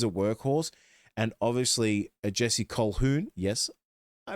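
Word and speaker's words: Colquhoun: Because Cameron McGinness is a workhorse and obviously Jesse Choun. Yes, I pronounced it right for once.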